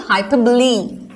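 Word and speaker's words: hyperbole: के स्पेलिंग लिख दो, एक्चुअली इसका प्रोनाउंसिएशन क्या है, हाइपरबोली, लेकिन आप स्पेलिंग याद रखने के लिए आप ऐसे याद रखो हाइपर बोले, या याद रखने के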